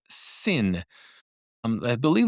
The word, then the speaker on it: Sinn: also heard it pronounced Sinn. Um I believe the Germans actually say Sinn with a s sound at the beginning, but then it has a little little hint of a z in it.